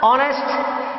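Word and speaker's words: honest: ऑनेस्ट, औ से हो रहा है, और औ से हो रहा है तो एक ही स्थान पर आर्टिकल क्या आ जाएगा?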